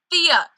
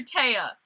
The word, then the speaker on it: Thea: yelling at me because I've been pronouncing her name wrong this like entire season I've done five this is the sixth episode of the show I've done and like every time I pronounce Thea's name wrong I call her tea like she's from [